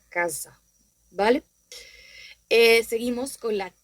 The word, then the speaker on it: casa: se hace en español, como diría con el término casa, que tiene el mismo significado, sí, pero no se pronuncia igual, ya que en italiano sería una especie de Z, sería una s, podríamos decir más torona. Yo en italiano no diría casa, como digo en español, sino que diría casa.